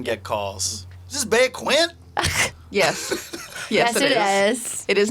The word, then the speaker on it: Quinte: a big one that it's pronounced quinty even though Siri says it funny yeah Doug said Quint earlier and that's sort